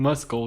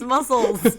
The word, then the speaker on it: muscle: For context, I just found out the C in muscle is silent. You still said it the wrong way. It's muscles.